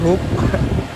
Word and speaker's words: Hub: orderannya seret, nyoba daftar Hope aja, Teman-teman. Hope atau Hub ya, tulisannya HUB, harusnya bacanya Hub ya. Cuman teman-teman semuanya udah biasa manggil hook, ya. Wis, saya ikutan hook begitu loh.